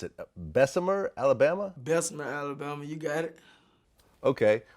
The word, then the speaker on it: Bessemer: okay now you're actually from how do you pronounce it Bessemer Alabama Bessemer Alabama you got it okay which is actually